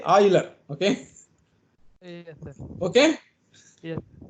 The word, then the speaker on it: Euler: Sir, Euler. Sir, it should follow the Euler equation. It is not Euler. Please, having studied in NIT, you should say Euler.